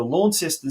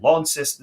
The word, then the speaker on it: Launceston: They had a big 5-2 win over Launceston City at home, or Launceston City as the locals say.